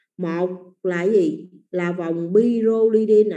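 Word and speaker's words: pyrrolidine: Pyrolidine nha. Hồi nãy sáu cạnh chứa một nitơ là bipyridine. Thì dòng 5 cạnh chứa 1 nitơ người ta đọc là pyrolidine.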